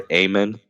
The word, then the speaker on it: Amen: Chris Nowinski Oh doctor amen so dr. Ayman just how it's spelled Kevin Pierce was a